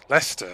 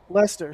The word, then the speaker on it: Leicester: center which is a museum in leicester and leicester uh lester sorry i'm every time every time every time i'm not good at pronouncing things uh in leicester and basically they